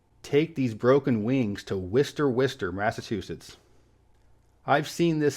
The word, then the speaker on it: Worcester: hour or so west of Boston and it's pronounced Worcester Take These Broken Wings to Worcester Worcester Massachusetts I've seen this city on maps